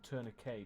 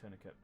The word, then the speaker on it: tourniquet: unfortunately tonight that'll do or turn a k depending on how you pronounce it i say tourniquet come on something that'll